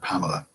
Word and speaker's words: Pamela: 3 in the word Pamela is a full syllable. Only the first vowel in the first syllable is a full vowel. The other 2 are reduced vowels.